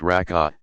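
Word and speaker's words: rak'ah: the number of cycles rock a pronounced raka depends on which prescribed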